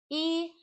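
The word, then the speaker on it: 医: I, Y, primeiro tom, I, Yuan.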